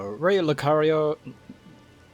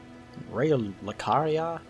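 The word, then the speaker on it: Raya Lucaria: one a reckon so R Lucario am I saying it right I keep thinking lari the the Pokemon uh R lucaria hold on I'm sure it says it right here yeah it is R lucaria I keep thinking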